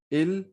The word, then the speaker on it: il: ill he is ill in french we call it ill and l is little bit extended l sound so you can say l so repeat after me